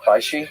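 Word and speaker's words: Bysshe: B Y S H E Sh Shelly B she who was already married together.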